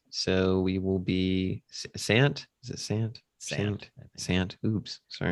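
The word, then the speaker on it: Van Sant: Um, but uh next week's uh feature film is Drugstore Cowboy by Gus Vans. So we will be Sant.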